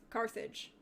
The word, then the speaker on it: Carthage: So, I am the Third of Carthagia, or Carthage. How do you pronounce it? Carthage.